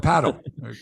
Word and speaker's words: padel: except I guess the Spanish influence we say Patel but it's called paddle it's like paddle ball p-a-d-e-l like it rhymes with Nadel it's right have you got